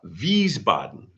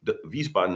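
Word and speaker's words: Wiesbaden: Vboden. Vboden. W because the Germans pronounce W as a V. So, it's a W. Vboten is W I S B- A D N.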